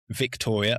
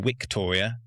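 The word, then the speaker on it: Viktoria: And then there's their daughter who is uh Victoria or Victoria. It's a V, but I believe in German it's W.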